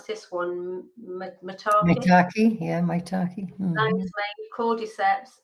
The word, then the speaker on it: maitake: How do I pronounce this one? Maitake, yeah, maitake.